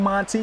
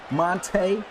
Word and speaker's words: Monte: I got to remember to stop saying Monty. He said his name is pronounced Monte.